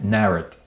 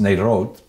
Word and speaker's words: Narrett: Narrett. It looked like it should have been pronounced Narot. Maybe it was at some point, Narot.